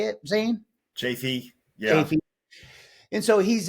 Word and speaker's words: Chaffee: Chafee.